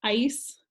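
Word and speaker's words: áis: is almost a MOS your vosotros ending is a with an accent is pronounced ice and the AOS a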